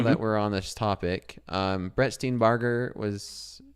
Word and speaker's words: Steenbarger: Brett Steenbarger was... Is it Barger or Burger? Barger. Okay, I have been pronouncing it right.